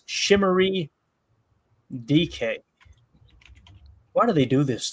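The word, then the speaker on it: Chimere Dike: By the way, Chamir Dyke, I hope I'm saying that right, Chamir Dyke, is pronounced Shimmery DK.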